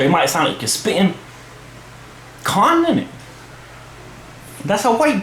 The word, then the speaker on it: Khan: some Meccano Aamir Khan if that spit in the back of your mouth and not pronounce like Ken that's how the white people do it clone firm Aamir Khan Salman Khan Shahrukh Khan Khan that's how you pronounce it from Spain you